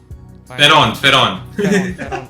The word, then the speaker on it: Spheron: Spheron. S is silent. Fine.